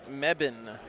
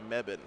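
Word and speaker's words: Mebane: chosen in it and the way you pronounce that word is meban which I would not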